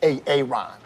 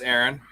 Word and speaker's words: Aaron: first time I said A Ron? Because it's pronounced Aaron? Son of a bitch! It is pronounced Aaron.